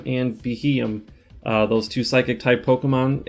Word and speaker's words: Beheeyem: And before we start, pronunciations for today are Elgium and Beheeyem.